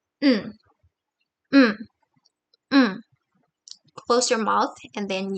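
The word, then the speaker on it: ん: And you have to pronounce it as mm, mm, mm.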